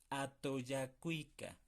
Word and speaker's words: atoyakuika: Chocani nech atoyacuica. Repiten después de mí. A, to, ya, cuica. A, to, ya, cuica.